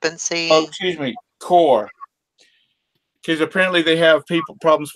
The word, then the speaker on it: Chor: How about Chore? I've never heard of them before. Never heard of them. What is it? Chore? CHOR. Yeah, I'd look that brand up and see. Oh, excuse me, Core.